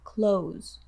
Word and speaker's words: close: Listen for the Z sound at the end of the word close. When you say close the, hear it? Close the.